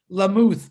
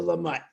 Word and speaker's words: Lamott: I always, it looks to me like Lamuth, but if it's Lamott, I'll call you Lamott.